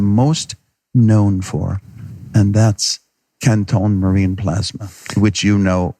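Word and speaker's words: Quinton: First, it's called Canton. Canton. That's the French pronunciation.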